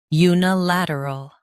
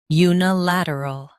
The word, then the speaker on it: unilateral: unilateral Now, read the syllables shown on the screen naturally. u nuh lat uh ol unilateral Stress lat and keep uh soft.